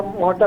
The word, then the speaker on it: मोहट्टा: तो इस जगह पर यहाँ एक डैम तामीर किया गया जिसका नाम था मोहट्टा डैम, महोटा डैम या मोहट्टा डैम जो इसकी प्रोनाउंसिएशन है।